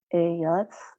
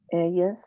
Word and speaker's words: ellas: Ellas son rubias. Ellas son bonitas. Ellas son americanas. Perfect. Just one recommendation for you, Joanne. Okay. Try to pronounce the ellas a little Ellas. more, mark the A, ellas.